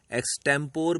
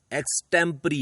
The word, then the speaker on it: extempore: हैं कुछ लोग इसे एक टेंपो भी बोलते हैं कुछ लोग इसे एक टेंपो रे भी बोलते हैं पर शब्दों का सही उच्चारण टेंपररी है है और इसी को